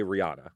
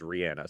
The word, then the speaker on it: Rihanna: Oh, I believe that's the correct way to say Rihanna. I believe it is too. I had to train myself because my mouth wants to say Rihanna. Like that's what sounds natural